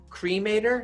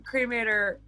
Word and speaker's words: Cremator: when did you meet cremator is am i pronouncing that right yeah like a cremate so i met cremator